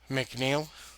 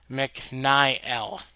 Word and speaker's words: McNiel: When it comes to my last name, McNeel, you have no idea how many people have actually pronounced it as McNel. McNile out of all things.